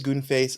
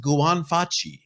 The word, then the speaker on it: Guan Fai: if okay if it your name really is goon face I apologize for the for the joke if not I think it's a pretty cool you're very insulting Richard it's pronounced Guan Fai oh oh I am